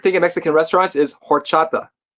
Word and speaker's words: horchata: Arin Dan said he loves porchata. No, there's no P. It's an H. Horchata. It's hor or orchata. Yeah, that's right.